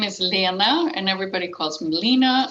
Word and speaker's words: Lena: It's Lena, Lena, and, and even Swedes.